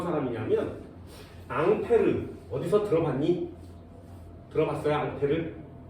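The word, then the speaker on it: Ampère: 앙페르? 이 사람이 만든 건 오름나사 법칙이에요. 그래서 손으로 이렇게 만들어서 방향을 정하는 법칙을 만들어낸 사람인데 앙페르. 영어 같진 않지, 그치? 그죠? 이 앙페르의 영어식 발음은 암페어예요.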